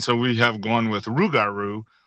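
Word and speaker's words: rougarou: Um, but we've kind of lost the the the French pronunciation of it and it's uh and so we have gone with rugaru r o u g a r o u.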